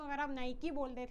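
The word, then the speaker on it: Nike: की है ठीक है नाइक है नाइकी नहीं है ठीक है उसको नाइक प्रोनाउंस करना है मैं भी पहले नायकी बोलती थी ठीक है फिर मेरी किसी फ्रेंड या नहीं किसी टीचर ने टोका था मुझे कि वो नायकी नहीं होता वो नाइक होता है ठीक है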